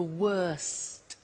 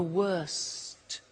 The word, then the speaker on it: worst: the superlative is the worst notice the T bad worse the worst don't forget to pronounce the T and then far the